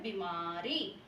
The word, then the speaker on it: बीमारी: ई की मात्रा है, ठीक है? तो इनको लंबा खींचकर बोला जाता है बीमारी।